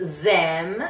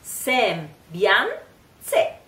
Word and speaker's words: sembianze: Sem, it's not zem, it's s, s, s. Sem, bian, in this case we can, you can hear like the N, bian, it's just pronounced just a little bit, it's kind of a nasal, very fast sound. Sem, bian, se.